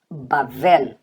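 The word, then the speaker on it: בבל: E aqui você tem o bet também, só que agora ele está com som de V e você vai ler esta letra como vet.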